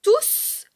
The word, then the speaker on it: tous: Et dans ce cas, quand tous est un pronom, on prononce le S. Pronom prononce le S. Par exemple, on dit « Ils sont venus et je les ai tous vus ». On prononce le S à la fin de tous, car tous n'est pas suivi d'un nom juste après.